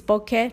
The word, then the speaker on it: bokeh: The word is bokeh, not bokeh, like cellular, and lots of photography people mispronounce it.